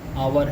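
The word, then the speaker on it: hour: जो हमने अभी भी ऊपर डिस्कस किया है, आवर है, ऑनेस्ट है, यहाँ पे हमारा एच साइलेंट है।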